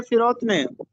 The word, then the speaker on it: فروتنی: لفظ استعمال ہوا ہے فروتنی، درست تلفظ ہے فروتنی، فے کے نیچے زیر لگا ہے، اس کا مطلب ہوتا